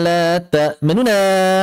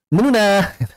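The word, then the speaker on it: تأمنا: ketika mencontohkan itu malaka la ta'manuna ala Yusuf. Menuna. Kalau kita bacanya menuna, itu mimnya ikhtilas juga. Tidak tepat. Kenapa? Karena yang diikhtilas hanya nunnya saja. Bukan termasuk mimnya.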